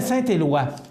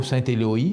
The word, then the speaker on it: Saint-Éloi: C'est pas Saint-Éloï, c'est Saint-Éloi.